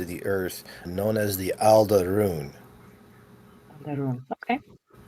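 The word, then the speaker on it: Al'druun: And it's it's spelled um I believe I have the spelling as a L d apostrophe r u u n. So it sounds like all the runes.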